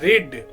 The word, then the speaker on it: read: रीड READ, रेड spelling वही रहेगा लेकिन बोलेंगे रेड, थर्ड रीड।